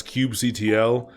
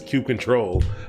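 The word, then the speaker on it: kubectl: or yes so what that's what people should be saying is cube control but they don't say that I've never heard anyone say that in a real conversation most people say Hugh cuddle and it bothers me every single time but I'm plus five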